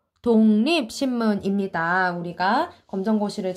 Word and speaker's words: 독립신문: 보여줄게 요렇게 어 문진희 똑 이라고 읽으면 안 되고 독립 신문 이에요 근데 이런 조선 어떤